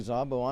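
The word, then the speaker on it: Szabo: trojans coached by rick zabo zabo spelled s-z-a-b-o that's believe a hungarian name if i'm pronouncing correctly zabo i'm half hungarian myself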